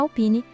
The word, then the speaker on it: Alpine: E na Alpine é só focar no som claro de Pen.